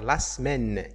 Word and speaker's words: semaine: tu à locuteur français natif une ne le prononce pas elle va dire la semaine c'est obligatoirement ça doit se prononcer de cette